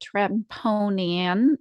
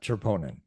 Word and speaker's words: troponin: to our audience what tremponian am i saying it correctly is opponent troponin there we go troponin so troponin is an